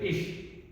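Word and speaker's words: ich: इसकी प्रोनाउंसिएशन करते हैं इश।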